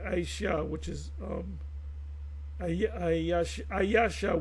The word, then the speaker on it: Aisha: And he said Aisha, which is um Ayasha. We say Ayasha, they say Aisha.